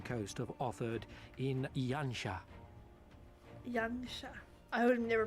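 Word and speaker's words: Yanxia: Yansha. I would have never pronounced that correctly.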